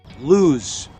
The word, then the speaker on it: lose: it's loose loose and the first word you hear s sound but the second one is loose lose for letter s you hear Z okay letter s only